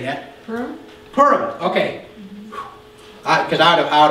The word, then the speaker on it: Purim: Purim.